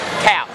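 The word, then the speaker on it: Tkautz: what's her name ums sorry CS isn't it CS yeah CS tea silent the te tea is silent right cuz we're trying to work out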